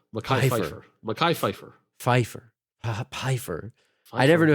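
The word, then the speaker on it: Phifer: Pfeiffer. Pfeiffer. No, it's Mekhi Pfeiffer. Mekhi Pfeiffer.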